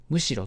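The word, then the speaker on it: 寧ろ: だったらむしろこれ読み方を確認しておいてくださいむしろと読みますむしろ昇竜に赴き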